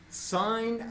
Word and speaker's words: sine: Sine of A, which is abbreviated S-I-N, but is pronounced sine.